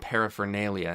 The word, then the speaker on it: paraphernalia: paraphernalia of socalled Justice I didn't know that paraphernalia had an R there paraphernalia most people don't pronounce the r susp spent to no